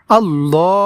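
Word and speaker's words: اللهم: তাইলে দর্শক, এই শব্দটি আমরা শুদ্ধ উচ্চারণে এইভাবে পড়ব, আল্লাহুম্মা ওয়া বিহামদিকা ওয়া বিহামদিকা ওয়া বিহামদিকা ওয়া তাবারাকাসমুকা ওয়া তাবারাকাসমুকা।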